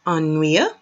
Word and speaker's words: ennuyeux: And this is pronounced ennuyeux.